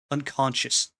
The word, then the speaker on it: unconscious: English I hate English unconscious you don't pronounce the S it's a silent s why why okay whatever